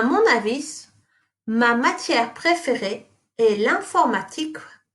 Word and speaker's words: avis: À mon avis, you don't pronounce the S.